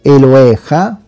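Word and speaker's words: אֱלֹהֶיךָ: O Eloheiha, forse è meglio dirlo perché quando c'è, diciamo, questa E qua, normalmente la Yod non si pronuncia.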